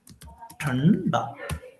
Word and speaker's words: ठंडा: तरीके से लिखते हैं, ठंडा, ठीक है, ठंडा। तो जो साउंड आ रहा होगा वो आप देख रहे होंगे, ठ के बाद में न नहीं आ रहा है, न आ रहा है, ठंडा, ठंडा, ठंडा, ओके,